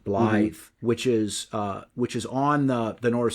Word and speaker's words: Blyth: I believe that's pronounced proper, Blyth, which is on the North Sea, not that far from Newcastle, in northern England.